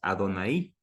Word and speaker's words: Adonai: exclusivamente para Dios que en hebreo es Adonai un acento en la i Por qué Porque en